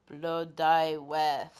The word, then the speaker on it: Blodeuwedd: Blodeuwedd. And as you can see, pronunciation is not as written.